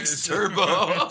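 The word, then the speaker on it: Turbeaux: Bluto character, yeah, Turbo, spelled E-A-U-X, like, did you notice that? No. On his paddle, it's, it's spelled T-U-R-B-E-A-U-X, Turbo.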